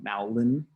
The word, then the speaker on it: Malden: I keep pronouncing that wrong. Malden.